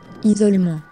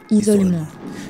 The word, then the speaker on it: isolement: But in French, you pronounce it Isolement. Yeah, like that. Isolement. The T is silent.